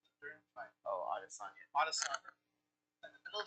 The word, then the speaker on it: Adesanya: Oh, Adesanya.